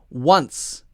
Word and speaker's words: once: once and once once so that wah sound is the same and the end is the same now notice that this one doesn't have our voice at the end we're not saying z we're just saying with a t sound in front of it once once and once